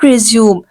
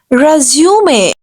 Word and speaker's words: resume: People used to pronounce this word resume. No, this is not resume. This is resume. The word is resume.